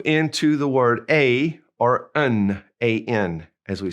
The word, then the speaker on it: un: First of all, we have un, U-N, and we're going to push that in through our nose. It's a nasal. And the other way is une. And since it has an E, now we pronounce that in une. So un and une.